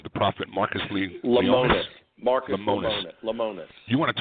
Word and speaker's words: Lemonis: The prophet, Marcus Lemonis.